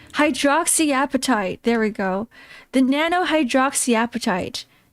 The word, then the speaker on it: hydroxyapatite: Hydroxyapatite. Hydroxyapatite. There we go. The nanohydroxyapatite. Got it. You just pronounce it the way it's written.